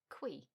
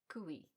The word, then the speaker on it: cui: I was pronouncing it qui, but I heard someone say it in a podcast and I thought, that's odd. And I looked it up, and I discovered that it is actually pronounced cui, with the stress on the U, making that two vowels, I guess, separate syllables.